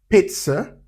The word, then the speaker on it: pizza: Letter Zed can also give us the sound as in pizza. So the second zed in the word pizza is t and in quartz.